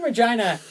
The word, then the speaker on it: Regina: 11 years going to Regina, the city that rhymes with fun. Yeah. And winning. Hey, where did that come from? Because when I was in Regina, everybody said that. They're like, "City that rhymes with fun." And I was like, "No, it doesn't rhyme with fun."